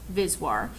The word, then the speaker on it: VSWR: applications include insertion loss return loss or vswr pronounced viswar which stands for voltage standing wave ratio and